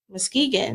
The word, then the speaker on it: Muskegon: You're from Muskegon, Michigan. Muskegon. That is crazy. I said it right the first time.